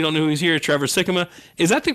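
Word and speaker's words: Sikkema: for those you don't know who's here Trevor Sikma is that the correct pronunciation Sikkim ah yeah look at that like jicama yeah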